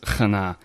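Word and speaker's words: חנה: Hebrew girl's name, but if you transliterate it into the Latin English letters, it's Chana, and it's pronounced Chana.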